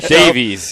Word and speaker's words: Davies: Davis uh return Chris I got to say his name I gotta say his name right one time Davies Chris Davies that's the only time I'll say it right the show Chris Davis